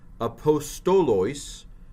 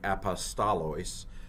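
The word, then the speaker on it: ἀποστόλοις: Akri, heis, hemeros, entelamenos, tois, apostolos, dia, pneumatos, hagiou, hous, exalexato, analemphte. Now I'm pronouncing the omicrons O. Some people pronounce them A.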